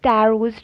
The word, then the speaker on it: Taro: ये Japanese story है इसलिए इसको टैरो प्रोनाउंस करेंगे।